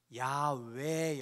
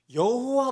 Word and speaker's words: 야훼: 학자들의 노력이 계속 되면서 이 yh wh 의 발음이 야외 였음 에 조금 더 가깝 가까웠을 것이다 라고 이제 잠정적인 합의를 봤죠